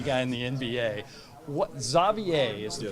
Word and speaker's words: Xavier: So it would be Xavier here, but it's part like French, part Flemish, so that's why they pronounce it Xavier. But I can see why people always call me Xavier, Javier, all these other things.